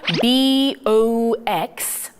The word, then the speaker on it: box: 자, 그러면 BOX, box 라고 읽어주면 되겠죠? 자, O 발음을 O로 살리기보다는 아로 살리는 이런 미국 발음이 참 우리에게 익숙합니다.